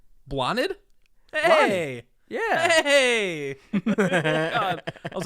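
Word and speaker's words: Blathnaid: b-l-a-t-h-n-a-i-d take a shot blathnid you are close you are actually really close take out the th it is pronounced blotted blotted hey yeah hey I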